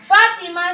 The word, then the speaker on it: Fátima: Fátima lleva tilde en la vocal A. Le voy a hacer una rayita aquí, mire. Porque Fátima lleva tilde en la vocal A.